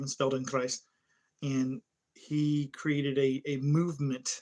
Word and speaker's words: Feldenkrais: There's a practice called if I'm pronouncing it right, it's Feldenkrais. It's German. This guy, his name is Feldenkrais, and he created a